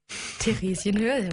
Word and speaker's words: Theresienhöhe: Tomorrow in Munich, I'm going to try my German pronunciation now. Saturn, Theresienhöhe. Theresienhöhe, very good.